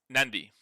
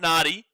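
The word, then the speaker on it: Nadi: n a d but before the d kind of the pronunciation is with an n so it becomes nandi. Not naughty.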